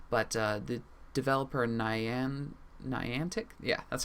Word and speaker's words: Niantic: media and everything but uh the developer nian Niantic yeah that's how you pronounce it uh who is developing Pokémon go